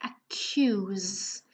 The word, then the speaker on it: accuse: as I told you we don't say who is not ooh who is q okay accuse and the last one